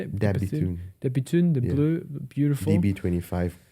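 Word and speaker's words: De Bethune: Dabitune.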